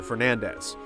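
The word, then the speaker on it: Belnades: was Isabel nades however according to the Japanese versions of the game as well as Castlevania 64 or the name is pronounced closer to Fernandez ca's actual last name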